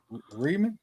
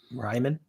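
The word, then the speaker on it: Reiman: Riemann. How you say it? Oh, him. Oh, Ryman. Ryman.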